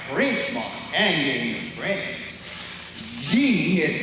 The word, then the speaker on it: Jean: Jean is pronounced Jean.